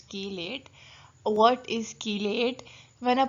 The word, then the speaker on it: chelate: it is pronounced as chiliate but I will prefer to say kill it as we say chemistry so it's key late what is chelate when